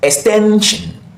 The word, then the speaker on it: extension: You find the stressed syllable, the syllable before the shin, before that suffix. That's where you usually find the stressed syllable. And here, what we have before the shin is 10. So this is pronounced extension, extension, extension. You can hear the pattern. Hope you can hear the pattern. It was pronounced slower, longer, and at a higher pitch,